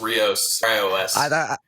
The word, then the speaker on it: Rios: oh you're good and it's just rios i thought it was but i'm like man if i say it wrong i'm gonna feel like a dick like the rio grande but stuff you just